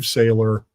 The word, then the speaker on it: Sailer: So just go to Amazon, Steve Saylor, Noticing. Sailor is spelled, by the way, S as in Sam, A-I-L, E as in Edward, R. Not like Popeye the Sailor.